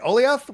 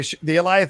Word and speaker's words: Alioth: Alioth? How do you guys say it? How are you guys saying it? Like Goliath. That's it. The Alioth shows up and tries. By the way, the Alioth is from the comics.